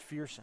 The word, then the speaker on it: Fearson: I think his mom found me at halftime and said it's Fearson.